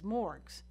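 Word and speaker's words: MMORPG: multiplayer online role-playing games which i'll pronounce as morgs that are inerrantly public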